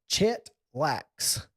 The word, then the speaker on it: Chet Lax: Pope John Paul or Pope Preps, Chet Lax. Chet Lax. Chet like Atkins, and then Lax like lacrosse.